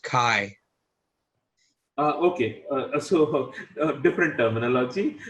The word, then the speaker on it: chi: so look at this chi squared that's actually pronounced chi uh okay so different terminology so yeah child square test or i i typically use the word chai to pronounce it so it's a square test